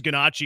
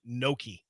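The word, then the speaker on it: gnocchi: Um, he says, "Ganachi is pronounced Noki."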